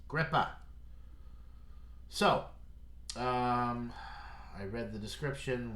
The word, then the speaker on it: Gripah: I guess it could be Gripah, but up here in Massachusetts and the New England area where these beers are brewed, I'm pretty sure it's pronounced Gripah.